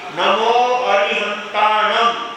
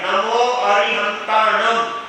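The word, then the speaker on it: नमो अरिहंताणं: एक एक वर्ड बराबर उच्चारण करते हुए नमो अरिहंतम यानी लास्ट में जो बिंदी आती है उसको म बोला जाता है नमो अरिहंतम नमो सिंम नमो आयम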